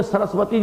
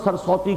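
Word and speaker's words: सरस्वती: یہ ان کی جو کتابیں ہیں مذہبی کتابیں، ان میں سرسوتی جسے ہم سرسوتی کہہ دیتے ہیں، اصل میں سرسوتی اس کا تلفظ ہے.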